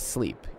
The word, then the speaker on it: SLEAP: has a name right it's called sleep you can check it out at sleep. a and that's spelled sleap right and please do